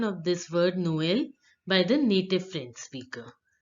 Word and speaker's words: Noël: Now let's hear the pronunciation of this word Noël by the native French speaker. Noël, Again, Noël, again, Noël, again.